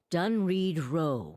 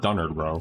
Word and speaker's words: Dunreed Row: Dunreed Row will not stop. Oh, so that's how you pronounce it. I've been calling it Dunard Row.